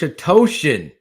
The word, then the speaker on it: Atocian: clint eastwood love you coach atocian it rhymes with lotion so this is an